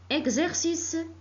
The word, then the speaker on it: exercice: que c'est comme taxi la lettre x se prononcent faisait comme exercice exercice la lettre x se prononce ce comme